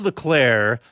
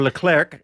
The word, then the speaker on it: Leclerc: talking about qualifying, and Charles Leclerc or Leclerc, depending on who you ask. Well, remember, the French are lazy and they don't pronounce the last three letters of any word.